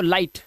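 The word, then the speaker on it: light: तो उस हिसाब से ये पढ़ेंगे लाई और जी एच साइलेंट तो लाइट ऐसे ही फाइट टाइट राइट और नाइट फार्मूला ऊपर लिखा हुआ है।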